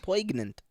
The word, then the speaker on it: poignant: get the chaotic poignant poignant oh you didn't go well yeah i tried you don't pronounce the g well yeah because it's silent for no reason well why is it